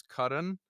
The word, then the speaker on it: Karan: And by the way, the proper name to pronounce his name is Karan. But I've been calling him Curran forever since the beginning.